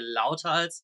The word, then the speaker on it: Lauthals: In German, we would say Lauthals.